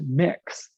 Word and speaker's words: Mx: of your business it's mx period pronounced mix which is also a